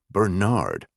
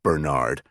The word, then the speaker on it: Bernard: than sir, but also insisted on pronouncing Bernard with a heavy emphasis on the second syllable, Bernard.